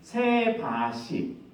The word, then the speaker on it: 세바시: 좀 잘못 발음하면 욕같이 들릴 수 있는데 세바시.